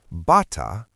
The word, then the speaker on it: bata: In Tagalog, the glottal stop can completely change the meaning of a word. Bata, with a glottal stop at the end, equals child. Bata, without it, equals bathrobe.